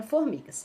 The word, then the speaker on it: formigas: Qual foi a sílaba que se esticou aí, que ficou maior? Ó, formigas. Foi o mi, né? Foi a sílaba mi.